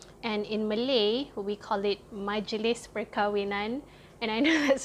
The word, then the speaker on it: Majlis: So M-A-J is Maj, L-I-S is lis. So it's literally Majlis.